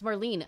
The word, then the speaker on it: Marlene: Was her name Marlene or Marley? It's Marlene.